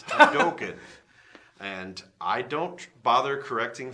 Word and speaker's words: Hadoken: It's not Hadouken, it's Hadoken.